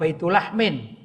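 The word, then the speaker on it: بيت لحم: Betlehem gitu ya atau dalam bahasa Arab baitullahmin Betlehem menurut bahasa Inggris bacanya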